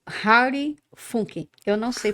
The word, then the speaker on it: Fockink: tem vários motivos para meu nome ser Harry eh uma É porque a minha mãe me